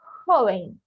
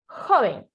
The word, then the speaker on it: joven: Recapitulando, o som do J em espanhol é igual ao som do R de rato em português, certo?